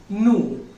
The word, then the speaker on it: nous: So we, it is pronounced, it is nous. I repeat, nous. It spells N-O-U-S, but we need to pronounce it as nous.